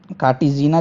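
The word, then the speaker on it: Cartagena: देखिए इसमें सीबीडी में कार्टेगना और कार्टिजीना जिसको बोलते हैं एज ए करेक्ट प्रोनाउंसिएशन, तो कार्टिजीना एंड नगोया, ठीक है, ये दो प्रोटोकॉल आपके बहुत ज़्यादा इंपॉर्टेंट है।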